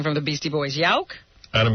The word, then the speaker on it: Yauch: Yauk? Adam Yauch.